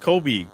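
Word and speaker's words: Cobe: C O B E, but it's pronounced Kobe just like Kobe Bryant.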